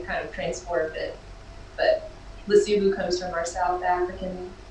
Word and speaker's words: Lesotho: It's the second syllable gets the accent. Lesotho. Yeah, just like that. With the head nod. Lesotho.